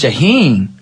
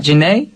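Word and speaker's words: Jhené: the artist jahen Aiko that's jahen yeah it's not Jana I think so why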